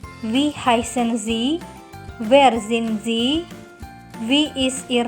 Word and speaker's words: Sie: Bacanya adalah Sie, bukan Sie.